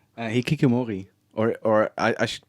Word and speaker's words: Hikikomori: Hikikomori. Or I should pronounce it better. I think it's Hikikomori. Hikikomori.